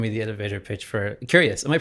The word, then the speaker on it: Qureos: Would you mind describing or giving me the elevator pitch for curious? Am I pronouncing that correctly?